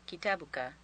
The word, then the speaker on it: كتابك: You may drop the A sound on the end of kitabuka, making it just kitabuk.